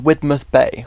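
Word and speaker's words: Widemouth Bay: I had now made it to Widmouth Bay, which like a lot of Cornish places isn't pronounced how it's spelled.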